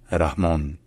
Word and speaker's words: Rahmon: the count's soviet transition in his name is pronounced rah rah en rahmon en rahm all right if you enjoy learning